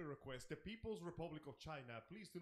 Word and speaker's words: Chyna: not make any distinctions it's spelled c h y and a oh i know it smell like that but we know exactly what it sounds like oh come on come